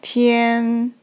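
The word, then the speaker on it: 天: above that da so this character pronounced like Tian Tian a means day or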